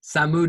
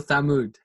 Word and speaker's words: Thamud: Should I do the Persian pronunciation or the Arabic one? Samud or Thamud?